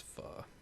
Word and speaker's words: pho: pronounce It's it. pho. Pho. Yeah, Bart taught me that. It's pho.